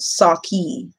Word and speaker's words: sake: Yes, it is a drink pronounced sake.